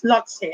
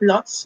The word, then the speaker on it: Lhotse: What is Lhotse? Actually, sinerch ko pa yung pronunciation niya. It's not Lhotse, but Lhotse. Para daw siyang Lao-tse, Lao-tzu.